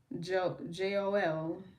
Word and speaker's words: Jehoel: The angel assistance is guardian angel Joel. That is spelled Jehoel, and this is for stress, practicality, calmness, and awareness.